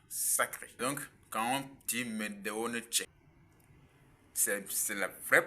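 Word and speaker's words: mdw nṯr: Quand on parle de parole sacrée en Égypte antique, parlant de Medunetche, nous avons montré et démontré que cela se prononce Medeonetche.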